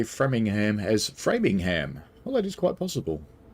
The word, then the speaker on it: Framingham: Noah says, I'm pretty sure they say Framingham as Framingham. Well, that is quite possible. Noah says the same pronunciation in the UK for once, and there will be mixed sets as well.